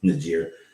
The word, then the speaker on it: Niger: I went from BRICS to Niger to, and it's not pronounced Niger, but it's Niger.